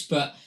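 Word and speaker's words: Björk: uh these more um obscure shoe gaze pics but the next one is another one of Tom's pics so the next song is uh birthday by sugar cubes who were fronted by bu in the mid 80s is how you pronounced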